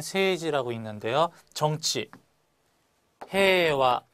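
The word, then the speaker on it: 平和: 정치, 해와 마찬가지로 해이와라고 써서 해와라고 읽고 평화라는 뜻입니다.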